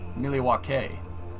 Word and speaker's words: Milwaukee: Actually, Chad, it's pronounced Milwaukee, which is Algonquin for the good land.